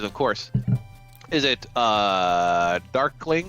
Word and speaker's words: Darqueling: course is it a Darkling or is it there quelling depends on how he drunk you are but it actually is so it is actually dork lling darkling okay excellent so I'll